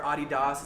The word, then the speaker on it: adidas: nike as a competitor adidas um they still or adidas is actually how you say it but anyways really